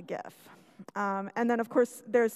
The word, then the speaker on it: GIF: big deal is because the creator of the file format himself actually clarified at one point in a conference that it was supposed to be pronounced GIF. And just to make things even crazier, about 15 years later, this guy changed his mind and said, no, it's actually GIF.